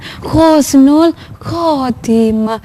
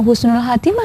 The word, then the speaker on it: Khusnul Khotimah: itu bacanya Khusnul Khotimah membacanya Khusnul Khotimah bukan bukan Husnul Khatimah ya Tapi bacanya Khusnul Khotimah tulisan Arab di belakangnya